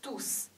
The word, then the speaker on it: tous: 意一点，当是代词的时候，阳性复数 tous s 发音；当是形容词的时候，tous les jours。Do, s 不发音，compris？